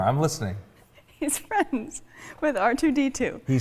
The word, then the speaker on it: R2-D2: Do you say it like R2 a word or R2 the number or letter R and the number 2? R2. D2. So like letter R number 2? Yes, is that correct?